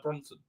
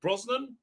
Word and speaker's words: Brosnan: reasons uh uh uh bronson i was gonna say his name wrong prison brosnan bronson problem being always says i say it wrong oh every time i what can i do i always get it wrong uh uh he uh